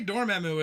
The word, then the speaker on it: Dormammu: You want to know how they like pronounce a name like Dormammu. I just say Dormammu. Dormammu? Yeah. They say Dormammu in this movie.